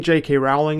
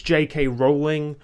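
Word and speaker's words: J. K. Rowling: I'm saying 'JK Rowling' (incorrect pronunciation) in this video, just because I say JK Rowling by default. I know it's 'JK Rowling' but I also don't care that much.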